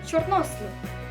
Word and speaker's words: чорнослив: приклад у нас буде чорнослив наголос ставиться на літеру о ми з вами не